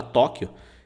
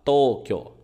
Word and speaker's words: Tokyo: do Japão Ok detalhes Tokio pronúncia tá não é Tóquio tá em português a gente fala Tóquio em japonês tem que falar Tokio ess aqui é o